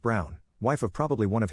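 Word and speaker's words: Braun: of the historical figure Eva Brun pronounced Brown wife of probably one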